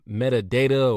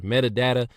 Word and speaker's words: metadata: Step two, I hate pronouncing this word because it's two different ways you could pronounce it. Uh metadata or metadata.